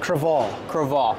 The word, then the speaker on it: Crevalle: from Full Ardo Boat Show okay so it's pronounced creal Cal okay so earlier when I butchered the name